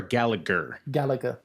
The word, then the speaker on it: Gallagher: Is it Gallagher or Gallagher? Gallagher, because it was pronounced Gallagher in WWE.